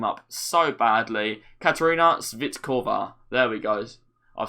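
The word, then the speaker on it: Svitková: But we move into midfield where we are going to be putting in Castellanos and Svitokva. I have messed that name up so badly. Katerina Svitkova.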